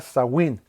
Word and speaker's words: Samhain: Se escribe Samhain, pero se pronuncia Samhain.